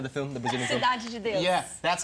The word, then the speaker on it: Cidade de Deus: I've seen like Cidade de Deus, whatever it's pronounced. City of God, you know, the film, the Brazilian film. Cidade de Deus. Yeah, that's how you pronounce it.